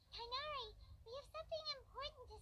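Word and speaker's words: Tighnari: Tainari. I keep pronouncing his name Tignari.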